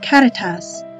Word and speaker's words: Caritas: name our school name comes from the latin word catatas meaning brotherly love of course most of our families don't speak with a rolled are so we use the